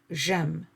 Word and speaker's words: j'aime: In French, there is no contact between the vowels. We try to separate them. So the way to separate them is to remove the e from je and replace it with an apostrophe like you see here. And so they become one word, and this is j'aime.